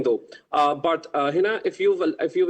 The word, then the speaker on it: Heena: No no my name is Hina. My name is Hina.